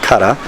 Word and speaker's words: 空: was to change that first character from To, which can also be pronounced Kara, to what we now know as Kara, or empty hand.